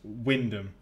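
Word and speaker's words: Wymondham: Also, I want to see how people pronounce this, because in the UK, this town is pronounced Wyndham. But look at the spelling, it just doesn't make sense.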